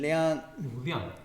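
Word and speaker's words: 量: Yizhong, it says, Jewu, my pronunciation, Liang, fourth tone, Liang, okay, Wu Liang, Zhong Jie Yi, Lao Bi Gan Sheng Qi, Dang Cheng Wu So Wei.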